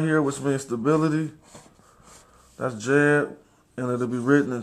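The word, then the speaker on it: Djed: which means stability that's Jed and it'll be written in trans literation as DD the transcription will be DJ e d where the J is silent but we also got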